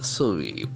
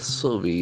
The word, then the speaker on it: survey: St St statistics that falls in the second syllable statistics so it ends with s letter s like a statistics surveys survey s r s r v e y as you know in the word survey the middle AR is silent survey survey and